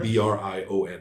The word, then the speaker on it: Brion: um father the swordmaster his name is uh Brian with an O how you spell that b r i o n okay right Bon y um Bri actually it wouldn't be French sounding um and you would